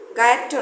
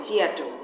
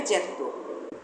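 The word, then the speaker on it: Giotto: গায়াট্টো নয়, ইংরেজি উচ্চারণে জিয়াটো, ইতালিয়ানে জ্যাত্তো।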